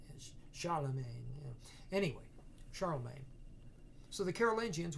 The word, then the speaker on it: Charlemagne: Lula Magna essentially but that's not how they pronounce it of course so they the French me in French say Charlemagne anyway Charlemagne so the